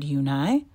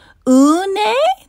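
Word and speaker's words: Yunhei: "Yunhai," said Yunhai. "Une?" the girl asked, scrunching up her face. "Ooh, ooh, une," some kids chanted. "No, no," Yunhai corrected. "It's spelled U-N-H-E-I. It's pronounced Yunhai."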